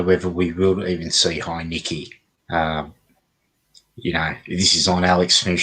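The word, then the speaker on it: Heinicke: Or are we going to see Taylor Heineke? Well, that's how I pronounce it, Heineke. Oh, that's right. That's how everyone pronounces it, Heineke.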